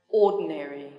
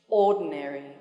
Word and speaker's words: ordinary: war then three syllables yes the stress is on the first syllable dictionary dictionary complicated complicated elevator elevator ordinary ordinary television television automobile automobile